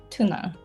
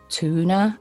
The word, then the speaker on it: tuna: all right okay so in american english it's tuna tuna yeah it's short how do you say it there are two ways of saying it i think it's either tuna or tuna becomes like two exactly like chew the face chew the fat chew oh that's so